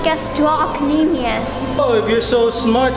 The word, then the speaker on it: gastrocnemius: She's right, it's pronounced gastrocnemius.